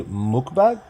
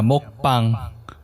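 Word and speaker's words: 먹방: Because I say mukbang. Like, how do you say that? So it's mok. It's like a longer O. Yeah, mokbang.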